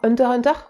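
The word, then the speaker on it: Hunter × Hunter: qui s'appelle je crois Hunter Hunter ah oui Hunter x Hunter nous on prononce pas le X enfin vous faites comme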